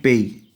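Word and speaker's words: pays: country English में country और French में ल पेय इसको बोलते हैं पेई एस यहां पे साइलेंट होता है सबसे पहले कंट्री जो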